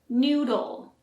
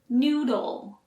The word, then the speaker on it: noodle: It may seem easy, but this word is often hard since it has a D and L sound back to back. Noodle. For the L sound, you move your tongue to the roof of the mouth.